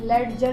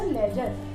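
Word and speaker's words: ledger: और अगर एग्जाम्पल देखें हम, तो लेजर, हम लेडजर नहीं पढ़ते, हम पढ़ते हैं इसको लेजर।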